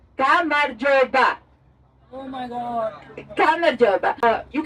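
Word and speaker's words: გამარჯობა: In Georgian language is pronounced like Gamarjoba.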